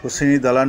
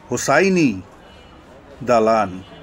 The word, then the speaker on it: হোসেনি দালান: বিকল্প উচ্চারণ হুসনি দালান। এবং ইবাদত ইমারতের গায়ে শিলালিপিতে ফরাসি ভাষায় লিখিত কবিতা অনুসারে উচ্চারণ হোসাইন দালান।